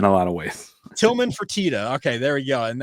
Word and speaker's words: Fertitta: Did I pronounce that right? Is it the Fertitta Center or Fertitta? Fertitta.